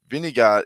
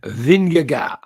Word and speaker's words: Vingegaard: race everyone knew like vinegar is the best climber in the world i mean he's shown that um and let's jonas vindagar thank you i've been saying his name wrong forever and we have fun